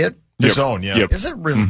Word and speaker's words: DAZN: DAZN, yeah.